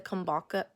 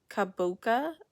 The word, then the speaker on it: kabocha: Mark's question to make my mom's soup the kombucha kombucha or kabocha okay so anyways and that pumpkin squash soup